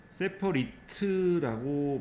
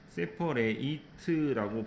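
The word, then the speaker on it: separate: 세퍼리트라고 발음이 되면 분리되는 형용사 뜻이고 세퍼레이트라고 발음이 될 때는 그때는 분리하다이 뜻입니다. 그래서 발음이 좀 달라집니다.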